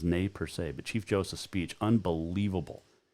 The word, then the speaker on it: Nez Perce: paw mountains ending the nes purse war also the nay per se it's actually the correct pronunciation of the nez perce is nay per se but chief joseph's speech